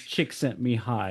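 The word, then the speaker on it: Csikszentmihalyi: Yeah, his last name is Chick Sent Me High.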